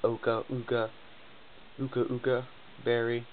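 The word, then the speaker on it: Occa Berry: And what I didn't know, his Scizor had an Oka berry, or whatever. How do you pronounce it? Uka berry.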